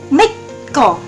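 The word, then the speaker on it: 믿고: Jadi kalau giok kan bacanya G, tapi kalau giok atau double giok itu dibaca K. Jadi dari mitgo menjadi mitko. Nah, selanjutnya nomor 3 yaitu japgo.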